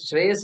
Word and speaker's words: Shreyas: And okay, this Shreyas is good. It's only 2 syllables, Shrey, yes.